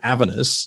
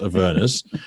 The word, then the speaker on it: Avernus: to even pronounce correctly i call it avenus not avernus um but like oh that's